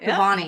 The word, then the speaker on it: Kabbany: Kabbany. You're saying it right. Kabbany.